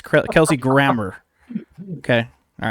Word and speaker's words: Grammer: correct people's pronunciation of Namor and then pronounce Kelsey Grammer like that because that's not how you say it. It's Kelsey Grammer.